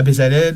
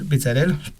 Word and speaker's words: Bezalel: ans les études à bezalel bezalel je prononce à la française deux premières années c'était